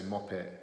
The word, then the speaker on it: Muppet: So the first one is the word Muppet, or as we pronounce it here in Northern England, Muppet. We don't pronounce the T on the end, so we just say Muppet.